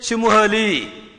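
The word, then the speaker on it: simile: देखो, शिमिली प्रोनाउंस्ड सिमुहली, इसका उच्चारण इस प्रकार से होता है, सिमुहली, इस तरीके से आप इसका प्रोनाउंसिएशन करेंगे।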